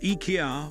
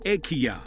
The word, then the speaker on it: IKEA: More interesting is how most people mispronounce Ikea. Like I just did eye-key-yah. Again, most Americans and Brits get this wrong, since they pronounce a Swedish name using the limited phonetics of English. Ikea had to go out of their way to correct this with an IKEA official confirming to today that we have been pronouncing the name wrong as it was intended to be pronounced E-Kea-ah or Ih-key-yah.